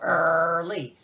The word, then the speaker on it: early: And you don't hear the EA, you just hear the growl, early.